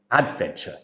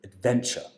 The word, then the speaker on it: adventure: So she stressed the syllable at the beginning. She said adventure instead of adventure. So the stress has to come on the second syllable.